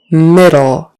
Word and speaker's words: middle: ah ah probably um middle it is in the middle of the road don't run over it Middle with a short I middle middle and that D is a d not a t um middle middle refund